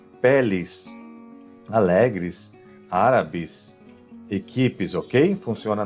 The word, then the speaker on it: pele: Então Pelé é o jogador, com acento, Pelé, e aqui, como não tem acento, a pronúncia será como I. Então, pele, olha a diferença, um acento pode mudar o significado da palavra.